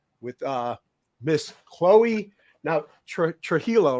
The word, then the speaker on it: Trujillo: uh Miss Chloe now Trujillo right is that how you pronounce it Trujillo yeah all right I